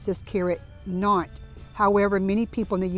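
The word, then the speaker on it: Nantes: it originated not France the S is silent so over there they pronounce this carrot knot however many people in the U.S pronounce it minties you'll get the best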